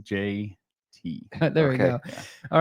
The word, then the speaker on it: JT: It's pronounced JT.